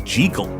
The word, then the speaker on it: Jekyll: Robert Louis Stevenson was Scottish. The correct Scottish pronunciation of Jekyll is Jekyll.